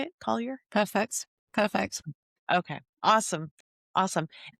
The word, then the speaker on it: Collyer: Collier?